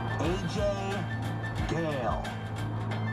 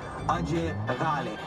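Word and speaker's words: Ajay Ghale: AJ Gale. Or as we all pronounce it properly, Ajay Gale.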